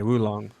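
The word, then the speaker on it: Wo Long: is a war long how do you pronounce that by the way because because I know it's Chinese okay woo long I don't think it's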